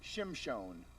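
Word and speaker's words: שמשון: Samson in Hebrew is Shimshon.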